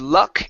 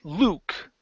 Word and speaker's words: Luke: Okay, instead of luck, it's Luke with an E at the end. That's an oo sound.